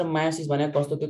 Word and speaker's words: meiosis: गर्छौ भन त गर्दैन मियोसिस भन्छु र म मायोसिस भन्छु यसलाई माइटोसिस मायोसिस र अमाइटोसिस मायोसिस the sense कि ई साइलेंट हुन्छ एम आई ओ एस आई एस मायोसिस ल सुन तीनटा मेथड हुन्छ